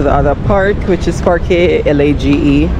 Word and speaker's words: Parque Lage: Then we're gonna go to the other park, which is Parque Lage. See, I'm not even pronouncing it. Parque Large. Yeah. I'm thinking it's large, but I've been mispronouncing everything, so.